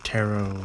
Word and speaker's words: tarot: more rigid and absolute nature terret or taro as it's pronounced probably the eighth card of the major